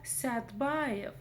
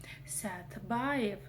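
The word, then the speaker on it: Сәтбаев: Следующая слово Стбаев. Стбаев. Вообще я живу в городе Садпаев, но по-захски Садпаев пишется как Стбаев. Вот такая вот магия.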